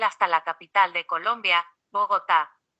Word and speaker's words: Bogotá: la capital de colombia bogotá tenga en cuenta que este nombre debe acentuarse en la última sílaba tanto si se refiere